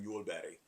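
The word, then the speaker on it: jordbær: But you know Bruno waffle and mule berry is that a berry? Strawberry. Strawberry. That's how you say it in Norwegian.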